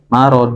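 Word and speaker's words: مرض: Jadi nanti berarti ritmenya akan menyesuaikan yang PR huruf D ya tadi kedengarannya seperti huruf da. Keluarnya seperti huruf da. Marod do mar mar. Kalau da da kan di tengah-tengah ya. Da di tengah-tengah ee langit-langit. Da da da. Tapi kalau do itu kan agak depan. Heeh. Ya. Mar. Marod. Baik.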